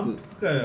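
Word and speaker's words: 鰻福会: けどもはいま満腹会はウナギをマンと読むんですよねそうです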